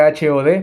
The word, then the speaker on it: Hod: Hod significa literalmente, se escribe H-O-D, por eso Hod, así le ve.